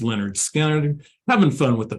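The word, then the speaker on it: Lynyrd Skynyrd: 50 years ago, pronounced Leonard Skinner.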